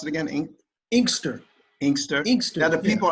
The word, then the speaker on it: Inkster: How do you pronounce it again? Inkster.